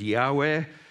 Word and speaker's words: Yahweh: name of God and Hebrew Scholars think it should be pronounced as Yahweh and then when we